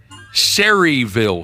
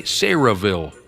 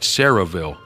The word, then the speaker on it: Sayreville: what are the odds Cherryville syriaville say Sarahville I think that's how you say it Sarahville New Jersey is the